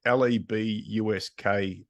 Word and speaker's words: LeBusque: It doesn't suit me, because if you look at the way that it's actually spelt, people say LeBusque or LeBusque, and I'm like, LEBUSK, phonetically spell it.